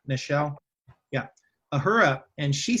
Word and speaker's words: Nichelle: Nichelle?